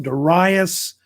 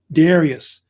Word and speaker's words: Darius: Of course, his name is pronounced different ways. Sometimes it's pronounced Darius, and then I guess in the West they also use the term Darius as well.